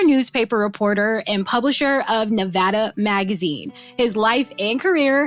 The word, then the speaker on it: Nevada: it Nevada Neva Nevada no it's NE it's Nevada I've been saying it right yeah no it's only people from the East Coast to call it uh Nevada and no one calls it Nevada no uh well they